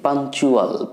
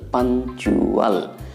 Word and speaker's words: punctual: ভালো করে খেয়াল করতে হবে, এখানে উচ্চারণ দাঁড়াচ্ছে পাঞ্চুয়াল, PUNCTUAL, পাঞ্চুয়াল।